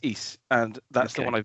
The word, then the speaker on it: Ys: of this word because i didn't know if it was like eyes y's yes but apparently it's east and that's the one